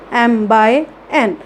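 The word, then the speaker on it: m × n: लिखेंगे हमेशा क्रॉस में, बट उसको हमेशा प्रोनाउंस कैसे करेंगे, m/n।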